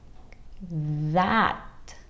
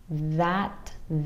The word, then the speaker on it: that: Vậy thì cái chữ that mình cũng sẽ phát âm là đặt bằng cách là đặt lưỡi giữa hai răng. That, that, that.